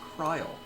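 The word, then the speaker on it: Krile: Uh, also I've heard the uh proper pronunciation is Kryle.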